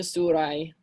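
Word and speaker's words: Syra: Ecce sira sura et nasa surai. Remember, this Y is the Greek letter upsilon. Sura is from Greece originally. So if you say sira, that's fine, but sura is technically the correct pronunciation of this.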